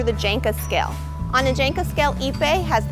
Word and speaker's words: ipe: talk about a brazilian hardwood called ipe ipe is spelled i p e and a lot of people have problems pronouncing it i've heard it's called ip i the way you pronounce it is ipe ipe its scientific name is hand this although